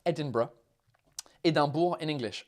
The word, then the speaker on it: Edinburgh: ed edinburgh edinburgh edinburgh if you want it in a proper scottish accent you've got a role they are edinburgh there you go that's my tutorial on how to pronounce it um yeah people